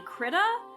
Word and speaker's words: Krita: And then the art software that I use is actually Krita. I think that's how it's pronounced. I hear people say Krita or Krita. It's like, I think it's Krita, Krita, and it's a lot to deal with.